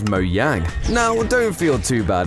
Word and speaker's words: Mojang: transitioned to Over time however in Sweden Mojang would actually be pronounced as moang now don't feel too